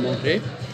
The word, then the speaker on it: manger: pas, par exemple, manger, on ne prononce pas le R de manger, je veux manger.